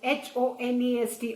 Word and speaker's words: honest: Beta, eighth word is honest, H-O-N-E-S-T, honest. You pronounce it as honest, H is silent.